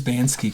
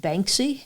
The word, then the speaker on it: Banksy: But I'm You become When's Bansky going to do on locomotives?